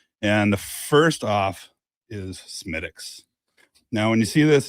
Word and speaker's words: Smithwick's: It's not Smithwick's. This is Smithwick's. Smithwick's. So the H is silence. You pronounce it Smithwick's or maybe even Schmidt's. Schmidt's. But you would not pronounce it Smithwick's. That will be clearly you don't know what you're talking about if you're calling it Smithwick's.